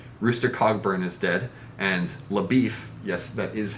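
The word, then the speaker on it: LaBoeuf: find those connections rooster cogburn is dead and labif yes that is how it's pronounced has left no trail to be found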